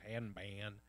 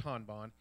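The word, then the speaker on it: Hanban: told me she's like most people goes hand man but it's Han Bond it is the headquarters for all of the Confucius Institutes in all the different countries across the world Han Bond is committed to the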